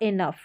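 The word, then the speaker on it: enough: लेकिन GH का फ उच्चारण भी होता है, जैसे कि लाफ, कफ और इनफ।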